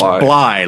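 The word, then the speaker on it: Blythe: Randy it's Bllye like fly. I was like okay Randy Bllye. It's like Captain Blie. The second half of his last name is silent. Yeah. He said the th is silent.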